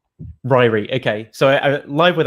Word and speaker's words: Ryrie: pronunciation of your surname is it rory or reary because right ryrie ryrie okay so i'm live